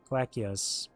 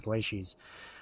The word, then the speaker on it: Glacies: troops heading towards the Magna Glee glacias as the game pronounces it I thought it was glacies a few days ago are they the ones